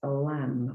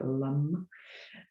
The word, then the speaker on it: Lam: It's associated with the element of earth, the adrenal glands, and the sound is Lam, or the mantra for the chakra is Lam. Sometimes that's pronounced a bit more like Lum.